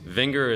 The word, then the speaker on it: Vinger: Vinger is like finger with a V. V like Victor, Inger.